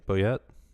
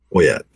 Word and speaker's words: Boyette: Boyette? Boyette. Boyette. Have you considered pronouncing it Boyet? People have, but that's phonetically incorrect for French. If it was one T, it would be Boyer.